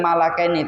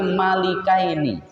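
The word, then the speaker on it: مَلِكَيْنِ: Dia itu memang dua orang, maka membacanya bukan malakaini tapi malikaini.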